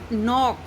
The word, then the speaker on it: knock: Like knock, in knock, K is followed by N.